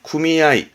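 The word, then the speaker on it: 組合: 조합은 조심할 게, 이 조합은 발음은 훈으로 가요. 그래서 구미아이.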